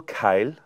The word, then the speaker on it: Kyle: You see, the way I say Kyle, it sounds like it is 2 syllables. Kyle.